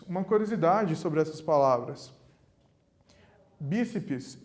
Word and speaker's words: bíceps: Bíceps e tríceps são palavras que possuem duas sílabas.